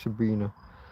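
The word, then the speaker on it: Sabine: Now, in fairness, Sabina, it is spelled just Sabina, I-N-E, but I believe it is still pronounced Sabina.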